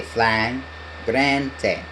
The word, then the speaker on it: Flagrante: Flangente kind of sounds like flagrante. We say flagrante.